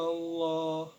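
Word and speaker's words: الله: Qablika Allah. Nah, ada lafaz Allah di sini yaitu cara membacanya itu tafkim atau tebal. Sebab lam jalalah didahului oleh fathah dan dibaca tebal. Jadi Allah jadi tebal kayak gitu.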